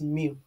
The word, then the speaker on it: mu: We pronounce this one as mu.